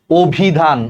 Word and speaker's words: অভিধান: অভিধান। অভিধান দেখো ওর মতো হয়ে গেছে, কারণ অর পর হ্রস্ব ইকার আছে, অর উচ্চারণটা ওর মতো হয়ে গেছে, এটার উচ্চারণ হবে অভিধান।